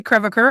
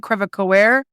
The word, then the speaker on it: Crevecoeur: You can say Crevecour. I've heard Crevecoeur, Crevies, Krebs, Crevecoeur. Oh, yeah. Crev, that's me right there. Crevecoeur. It means broken heart.